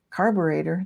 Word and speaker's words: carburetor: Carburetor, that's pronounced like alligator, kind of. It would rhyme.